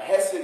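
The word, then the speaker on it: hesed: me okay if uh if you aren't getting some uh moisture in the front of your mask when you say it you're not saying it right right that's it uh hess it is this theme of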